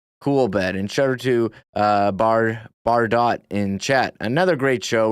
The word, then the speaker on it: Bardo: And shout out to Bar Dot in chat. Another great show. You do the job of three people. Thank you for the kind words. Bardo, as it is pronounced.